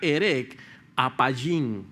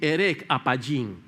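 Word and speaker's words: ארך אפים: se se pronuncia, está escrita allí, pero se pronuncia herec apayín, así, herec apayín.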